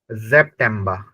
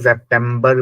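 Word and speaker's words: September: ऑगस्ट त अगत अगस्ट सितंबर को जेप टबा एस के साथ में ई है तो जेप टम जेप टबा जेप टबा बहुत से इसको सेप्टेंबर बोलते हैं सेप्टम जैसे कंप्यूटर को कंप्यूटर बोलते हैं है ना इसको भी सेमबर बर ऐसे करके बोलते हैं बट ये सेप्टम ब यानी कि ब जो है वो सॉफ्ट साउंड है आप डीप एल पे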